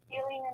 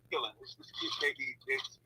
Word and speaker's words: Keelan: How do you say your name? Is it Killian or Killing? Keelan. It's either Keelan or Keelan. So either one.